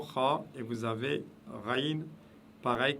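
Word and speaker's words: خاء: Voilà la lettre Kha qui se prononce juste au-dessus de la pomme d'Adam. Kha.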